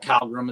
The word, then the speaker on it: Calgrim: Calgrim. I say it wrong all the time. I call it Calgrim.